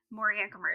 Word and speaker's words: Moriancumer: The last part of his name, I'm not saying wrong. Moriancumer is fine.